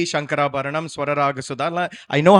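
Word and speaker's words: Shankarabharanam: We did a raga reel, which a lot of people enjoyed because in that purposely Shankara Bharnam. But that's how I used to speak as a child, Bhairavi.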